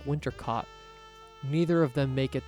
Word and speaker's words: Winter Cot: No, that's how you spell it. But the way she says it makes it rhymes with hot, like winter cot.